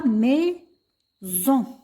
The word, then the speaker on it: maison: On a ici S entre deux voyelles. يعني S بين deux voyelles. وقلنا les voyelles هم عندنا A, I, E, O, U, Y. بما أن S بين deux voyelles فتنطق Z. نقرأها maison.